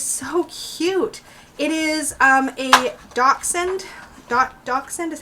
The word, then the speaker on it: Dachshund: It is a Dachshund.